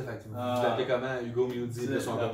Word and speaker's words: Mudie: Hugo Moody, de son propre prononciation.